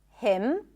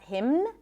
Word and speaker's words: hymn: The N is silent in the words hymn, not hymn, condemn, closing my lips, ending with an M, autumn, and government.